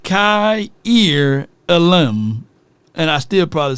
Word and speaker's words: Kaiir Elam: without watching any tape Kier elim they even helped me out the US poor Mississippi folks it says pronounced Kai ear Alm and I still probably